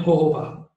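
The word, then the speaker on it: jojoba: इसमें लिखा हुआ है विद जोजोबा, जोजोबा को वैसे प्रोनाउंस करते हैं होहोबा, ओके तो होहोबा एक जड़ी बूटी होती है तो वो हमारे स्किन इसमें लिप्स के लिए बहुत अच्छा है।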